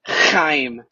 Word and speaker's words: Chaim: Now, and so your neighbor has to feel it on their face. Chaim. Okay. Then you know you're saying it right.